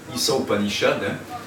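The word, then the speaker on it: Īśā Upaniṣad: Et entre autres, une des plus célèbres Upanishads, c'est l'Isa Upanishad, et ça s'écrit I accent, c'est-à-dire long, Sa, S-H, A long, Isa Upanishad, et Gandhi disait que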